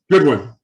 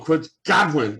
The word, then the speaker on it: Godwin: Goodwin. Chris Godwin. I always get that wrong. Chris Godwin. That's how you say it.